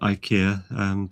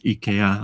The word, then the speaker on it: IKEA: But what I find is that the IKEA bookcases, this Swedish company, they're sometimes called IKEA, but proper pronunciation is IKEA. I know that because I lived in Sweden for a long time.